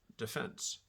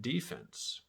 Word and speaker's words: defense: In normal usage, these are pronounced offense and defense. In football, it's offense and defense.